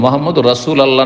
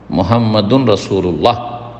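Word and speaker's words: محمد رسول الله: মুহাম্মাদুর রাসূল আল্লাহ নাই, মুহাম্মাদুর রাসূল আল্লাহ যে পড়লেন এটা ভুল উচ্চারণ। মুহাম্মাদুন রাসূলুল্লাহ যদি শুদ্ধ পড়তে চান।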